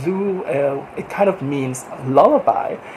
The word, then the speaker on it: Ru: like stream and uh on the Vietnamese language I think it's pronounced zo it kind of means